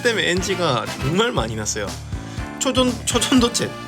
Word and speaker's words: 초전도체: 초전도체 자꾸 쪼전도체로 되는 거예요.